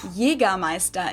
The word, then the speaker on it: Jägermeister: From shoes to alcohol, this is pronounced Jägermeister in German. Jägermeister. English speakers usually say Jägermeister, which is pretty much the same, just with a pretty thick accent.